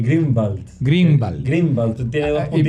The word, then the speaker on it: Grunwald: interesante A ver entonces la forma correcta de pronunciar tu apellido es grun Wal la forma en verdad correcta de pronunciar mi apellido es no tengo idea cómo se dice es en alemán se dice grenald grenal grenald tiene dos